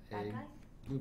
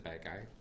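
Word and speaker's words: Badguy: And Ricky Gervais is the bad guy. Okay. Dominic Bad Guy is his name. Oh, so, but it's yeah. pronounced okay. differently. Bad Guy, because it's French.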